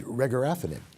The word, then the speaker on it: regorafenib: There's regorafenib.